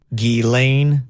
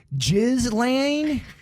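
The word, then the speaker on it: Ghislaine: what this is and here's how you're supposed to pronounce this geelane maxwell geelane maxwell not yet not yet okay okay how do you say that this is one of the most mispronounced words of 2020. jizz lane maxwell i'll be driving in the jizz lane oh my gosh very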